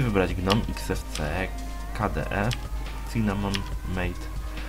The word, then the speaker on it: MATE: Ci, którzy są zainteresowani środowiskami graficznymi, mogą sobie wybrać GNOME, XFCE, KDE, Cinnamon, Mate, Matei, ale tak to się wymawia w sumie poprawnie, i środowisko LXDE.